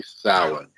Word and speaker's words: Samhain: they say Sam Hain, and it's really Samhain, not that hard. And you would think they would have, eventually figured that out, but I don't think they ever do in the whole series. They pronounce it wrong every time.